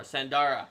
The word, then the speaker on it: Sandara: had taken B uh not bestara Sandara yes it Rhymes Sandara the CL of